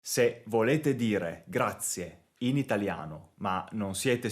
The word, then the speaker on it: grazie: è la parola singola grazie attenti alla pronuncia non è grazie ma è grazie questa